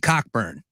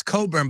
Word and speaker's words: Cockburn: It's Coburn, but it's spelled Cockburn. I mean, I don't know what you want. It's just the way it's spelled.